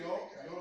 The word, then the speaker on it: io: so, io penso, nel senso che io like a YO, they say io.